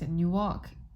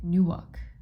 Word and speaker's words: Newark: is at 9 45 a.m tomorrow but it's a new walk sorry Newark Newark I know how to pronounce it but you know what I mean